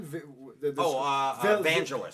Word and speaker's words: Vangelis: Vangelis.